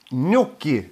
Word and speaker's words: gnocchi: Eva Skog säger, gnocchi uttalas det.